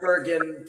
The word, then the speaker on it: Burgin: You know, I made it sound a little mispronounced, but you pronounced Burgin perfectly.